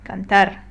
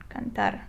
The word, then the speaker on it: cantar: We see that it ends with an R, which is not a vowel, not an N, or not an S. Therefore, it will follow this rule, which says you stress the last syllable. Last syllable. Okay, so if I want to read it correctly, I will say cantar, cantar, because this is the last syllable in the word.